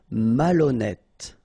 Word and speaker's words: malhonnête: décider, malhonnête. Okay, remember, H doesn't exist, so malhonnête. Don't insist on the final E. Malhonnête. And here you get E accent circonflexe, so you pronounce it like E.